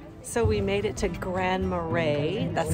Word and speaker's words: Grand Marais: it pretty so we made it to grand marais that's how they pronounce it and it was supposed to be